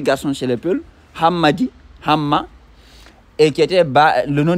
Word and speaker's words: Ham: écrit dans la Bible on dit cham qui sont déformés en cham qui normalement se prononce Ham.